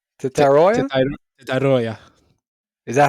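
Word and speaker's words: Tetairoa: Teshora? What'd you call me? Tetara? Tetaroya? Tetaroya. Is that how do you pronounce it?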